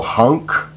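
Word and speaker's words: Haneke: the theater uh uh I'm not sure if I'm pronouncing it correctly but the writer and director is uh Michelle hunk uh that's my best guess as to how to say his name it may be Michael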